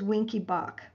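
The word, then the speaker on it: Wenckebach: and units and that is winky bach it's spelled w e n c k e b a c h mobitz type one also called winky bach is a type of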